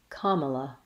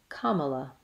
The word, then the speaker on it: Kamala: Kamala has first syllable stress. Ka should be held longer, and Mala is said quickly. Kamala. Kamala. The letter A says ah in the long syllable, ka, and